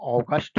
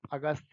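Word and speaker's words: August: हमें सीख लेना है अगस्त पढ़ने के लिए इसको अगस्ट पढ़ेंगे लेकिन आपको अगस्ट नहीं पढ़ना है आप अगस्त ही सीखिए लेकिन स्पेलिंग बेटा जरूर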